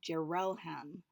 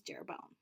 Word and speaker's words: Jeroham: the name Jeroboam, so I was mispronouncing the name Jeroham um, as Jeroboam.